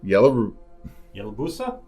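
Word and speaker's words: Yalobusha: the uh tahachi and Yellow yowusa River yusa yellow yusa there you go I'm going to go with your pronunciation because anything else after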